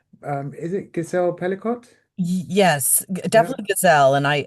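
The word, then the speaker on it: Gisèle Pelicot: Um is it Gazelle Pelicott?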